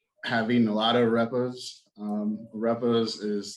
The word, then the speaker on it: arepa: How do you pronounce the bun again? It's arepa.